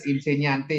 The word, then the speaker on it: insegnante: Tadi kan insegnante ya, berarti GN itu dibacanya Y ya. Nya, nya ya. GN-nya itu ya insegnante. Dibacanya nya ya, GN.